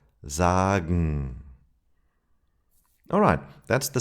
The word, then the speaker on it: sagen: And gen sounds like gn, morgen, sagen.